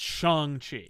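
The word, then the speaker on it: Shang-Chi: the actor who's playing him yeah says it's shang chi okay just like uh when they made the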